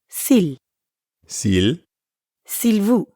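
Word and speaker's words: s'il vous: first part of silvous Sil vu silvu Sil Vu play Sil vu but when speakers are in a hurry that l sound at the end often gets left off ER now you practice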